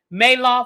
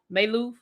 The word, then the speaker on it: Maloof: Maloff. I'm saying it wrong. Maloff. Maloof. You know, I'm thinking about Bernie Madoff. Maloof. Thank you.